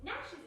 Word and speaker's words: gnashers: Gnashers is a funny word because it's got a silent letter at the start of it.